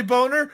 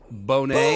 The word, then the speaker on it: Boner: Did I ask you why your name's Boner? No. Why are you asking me my name? Pronounced Bonet. Bonet.